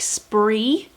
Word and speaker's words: Sbri: SBRI sounds like spree. Welsh for fun.